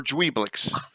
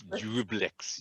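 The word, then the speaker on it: Juiblex: How do you pronounce it, Ed? Jublix or Dweeblix? Dweeblix is good enough. Dweeblix? It's Jublix.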